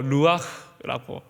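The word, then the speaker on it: רוּחַ: 근데 이 바람이 히브리어로 루아흐라고 발음을 합니다.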